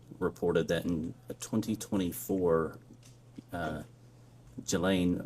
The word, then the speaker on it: Ghislaine: Um As best as we know, it's been publicly reported that in 2024 uh Ghislaine Maxwell, or Ghislaine, I think it's how it's pronounced, arranged and wired $1